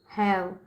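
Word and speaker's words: have: हैव पढ़ेंगे ठीक है और यहां पे ई जो है ये साइलेंट है समझ में आ रहा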